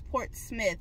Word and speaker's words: Portsmouth: It's like way far out in a town called Portsmouth, but it's spelled Portsmouth, but people are telling me no, it's Portsmouth.